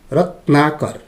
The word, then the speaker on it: रत्नाकर: त्यसै गरी अर्को शब्द छ रत्नाकर, रत्नाकर। भाइ बहिनीहरू, हेर्दाखेरि त यहाँ 1 2 3 4 4.5वटा अक्षरहरू देख्छौँ है, तर यसलाई हामीले उच्चारण गर्दा तीन खण्डमा उच्चारण गर्नुपर्ने हुन्छ।